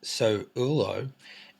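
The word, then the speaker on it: Sowulo: Suulo, pronounced So-Ulo, is the rune of the sun, soul.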